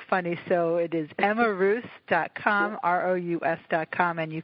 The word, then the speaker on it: Rous: her site at Emma am i pronouncing your last name correctly its ruse yeah I think I'm